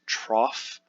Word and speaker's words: trough: The trough, that's how it's pronounced, trough, is the lowest point.